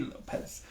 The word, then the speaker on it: López: Lopez. With an accent on the O.